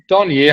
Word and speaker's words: Dornier: Yeah, it's Dornier. However, it's it's supposedly French, but people just say however they want to say it, so it's fine just how you did say it.